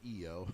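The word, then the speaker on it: IYO: It's a very simple name change, so they added the Y, so people would pronounce it EO.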